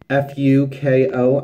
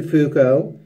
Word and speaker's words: Fuko: deep fook oh yeah Fu K oh I'm going with Fuko as opposed to another pronunciation and it's smear cream